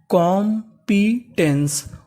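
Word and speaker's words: competence: में लिखा है इ अगर आपको इंग्लिश के किसी भी मीनिंग के आखिरी में इ लिखा मिले तो आपको इ का उच्चारण नहीं करना होता तो पूरी मीनिंग क्या बनी कॉम्पिटेंस कॉम्पिटेंस कॉम्पिटेंस कॉम्पिटेंस का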